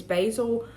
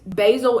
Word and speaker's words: Basil: Dorian Gray's picture is Basil Hallward. I think it is an H word. I can't remember. His last name starts with an H. Uh, but Basil and it is pronounced basil like the herb or herb, however you want to say it.